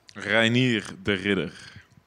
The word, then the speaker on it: Reinier de Ridder: Give me the proper pronunciation of your name. Reinier de Ridder.